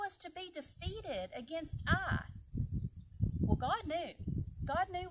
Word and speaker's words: Ai: the next city of Ai. And it's just A-I, but it's pronounced I.